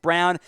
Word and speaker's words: Brown: sports tv christian brown don't let the last name spelling for you it is pronounced brown to the denver nuggets